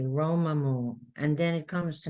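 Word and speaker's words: רוממו: Like Romamu, I would put Rome, like Roam, Rome, Ma, Mu. And then I practice saying it correctly, Romamu. And then it comes to me, Romamu.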